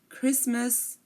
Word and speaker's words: Christmas: learn um some common ones are as Asma Christmas mortgage and soften again Asma Christmas mortgage soften we are not pronouncing the T in any of these words